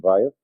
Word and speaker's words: Weil: Mas, como ensinava a filósofa Simone Weil, os franceses pronunciam Weil, mas eu me recuso a fazer isso, no livro L'Enracinement, o